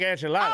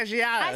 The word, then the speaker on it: enchiladas: Oh, yeah, I know how to make enchiladas. Oh, okay, cool. But when you said enchiladas. I said enchiladas. You had that little flair on it, man. I said the way it's supposed to be pronounced.